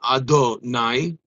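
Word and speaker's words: אדני: And then Hashem actually brought the creation from potential into actual existence, using finally the final name of Hashem, which is pronounced Adonai.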